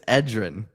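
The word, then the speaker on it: Edgerrin: You call him Egderin? I think I said Edgarin. Edgerin. It's Edgerin. Edgerin.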